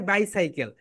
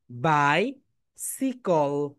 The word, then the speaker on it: bicycle: আমরা অনেকে কি বলি এটাকে? বাইসাইকেল। কিন্তু এটা রাইট প্রোনাউন্সিয়েশন কি বলো তো? বাই বলো, বাই সিকল। সিকল বলো, সিকল। ক্লাপ দাও এভরিওয়ান, সবাই একটা করে ক্লাপ দাও। বাই সিকল, বাই সিকল। Clap দাও এভরিওয়ান, বাই সিকল। ইংলিশে এটাকে প্রোনাউন্সিয়েশন করতে হবে বাই সিকল।